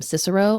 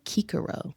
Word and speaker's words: Cicero: My favorite Latin tidbit is that they didn't have a soft C. So we've been calling him Cicero all this time, and it's actually Cicero.